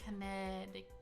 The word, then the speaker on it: Connecticut: They don't pronounce the C. Connecticut.